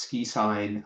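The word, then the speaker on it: SQIsign: So, it's SQI pronounced ski sign.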